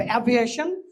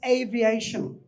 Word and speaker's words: aviation: এই ওয়ার্ডটার উচ্চারণ ইজ নট অ্যাভিয়েশন, ইজ এভিয়েশন। The pronunciation is এ, আমার সাথে বলো, এ ভি।